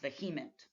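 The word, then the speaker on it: VHEMT: voluntary human extinction movement the acronym pronounced vehement and we'll also look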